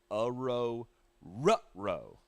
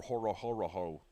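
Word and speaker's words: Orhorhoro: number 81 though Rook AO rro that is actually how they pron phonetically prounce it in the media guide AO rutro AO rutro I'll never call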